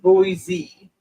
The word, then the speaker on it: Boise: I like like the rolling go easy it's pronounced Boise okay wow where is it what country is